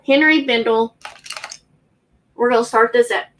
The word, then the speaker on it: Henry Bendel: how you pronounce it vendel not been drill bindle henry bendel we're gonna start this